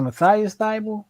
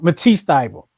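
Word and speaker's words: Matisse Thybulle: Was it Matthias Thibault? What's his name? I thought I'm getting his name wrong. Matisse Thibault. Matisse Thibault's his name.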